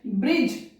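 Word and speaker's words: bridge: ब्रिज, आप लोग सभी जानते हैं ब्रिज की स्पेलिंग, तो वो वहां पर डी साइलेंट है।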